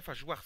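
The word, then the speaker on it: Phage Wars: Fajwars, pardon, c'est, oui, le S, enfin, se prononce.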